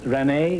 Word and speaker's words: Renee: find out something about miss Renee is that the way you pronounce it yes princess Renee is background